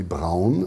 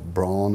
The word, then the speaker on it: Braun: most important designers of the company Braun, as we pronounce it, or Braun, as you may say, which Braun, by the way, means brown color.